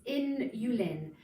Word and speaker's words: inulin: Okay, inulin. When I first saw it, I thought insulin. No, it's inulin. So this is the best known prebiotic.